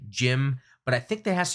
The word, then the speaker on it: GM: on but as an official designation it's a gym of course it's spelled gm but pronounced it as it goes